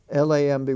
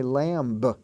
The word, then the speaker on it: lamb: spelled m b in such words as lamb l-a-m-b we don't say lamb we say lamb Jam the door jamb j-a-m-b